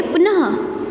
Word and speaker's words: पुनः: पुनः, ओके, पुनः।